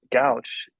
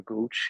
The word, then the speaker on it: Gouch: Mm, And so naturally, when I made my tag, Gouch or Gooch, however you want to pronounce it, I flipped it with an ER at the end also.